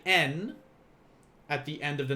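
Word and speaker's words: 円: you're going to say n at the end of the number now we reckon in english we would say yen but in japanese they would just say n it is pronounced as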